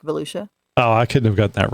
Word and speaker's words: Volusia: You know how to pronounce that one? No, but Volusia. Sounds like Volusia.